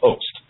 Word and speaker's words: Host: That was Daniel Host, is the proper way to say his last name.